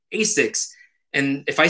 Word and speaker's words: Asics: my Asics shoes and I get corrected and they say it's Asics. And I say, no, it's Asics because it's an acronym for Anima Sana in Corpore Sana, which is like sound body, sound mind in Latin. And in Japan, they spell it in katakana and it's Ashiksu. So in Japan, we say Asics, but here everyone says Asics.